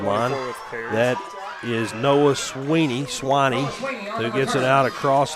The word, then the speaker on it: Sweeney: It's spelled S W I N E Y, but it's Sweeny and I should have known that, but I I I messed up there.